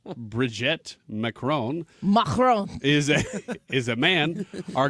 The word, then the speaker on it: Brigitte: Bridget? Real. How do you pronounce her name? Bridget? Brigitte.